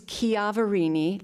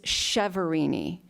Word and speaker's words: Chiaverini: good pasta so um the Italian pronunciation is kavini like kianti because the chi is a it's a hard key a hard k sound ch um the Americanized version is chevrin so feel free to